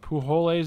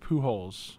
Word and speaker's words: Pujols: Pujoles is pronounced Pujols.